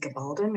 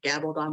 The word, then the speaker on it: Gabaldon: because the author diana is it gabaldon or i always i always used to say gabbled on but i'm almost positive that's wrong and i think it is i think that's the correct pronunciation and uh but she's